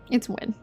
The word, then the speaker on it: Nguyen: So like she just because I used to say Nguyen a lot too, but then I was like, why am I doing that? It's Win. it's one syllable. Everything in it's a one syllable.